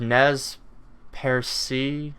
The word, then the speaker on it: Nez Perce: We sat in the Cultural Resource Center in Lapwai, Idaho, amongst piles of Nez Perce. I don't know how to pronounce it. It's Nezperce, but the E has a symbol above it.